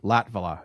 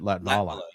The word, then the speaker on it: Latvala: And I mispronounced your name anyways. You told me Jake Latvala, and then I did it Latvala. Yep. Yeah, sorry, man. I got all fancy. Latvala.